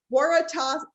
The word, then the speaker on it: Waratah: She has 3 series that I could tell, so correct me if I'm wrong, but she has the Waratah, did I say it right?